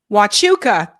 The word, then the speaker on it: Huachuca: And Huachuca. Thank you. I knew I pronounced it wrong.